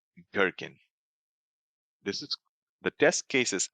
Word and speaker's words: Gherkin: In behavior-driven development, there is something called Gherkin. This is the test cases are written in Gherkin language. Gherkin. Gherkin. It's not jerkin. Don't pronounce it jerkin. Pronounce it gherkin, like G, like a goat.